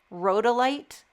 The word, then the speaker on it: Rhodolite: How do you pronounce this? Rhodolite.